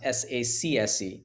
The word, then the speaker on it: SACSE: So it becomes S-A-C-S-E. And how does that pronounce?